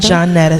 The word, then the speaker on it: Johnetta: Johnetta, spelled like Juanetta, but it's French.